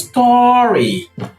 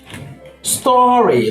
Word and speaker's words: story: you have here is Story Story this is a long vowel sound it's a long vow